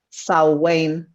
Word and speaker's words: Samhain: cuando se celebraba antiguamente lo que leemos en español como samhain pero que se pronuncia show wayne perdonadme sí lo he